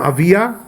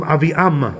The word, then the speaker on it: Aviam: Sometimes it calls him Avia, sometimes it calls him Aviam with the M at the end. Mem. Aviam or Avia. Two different ways of pronouncing his name.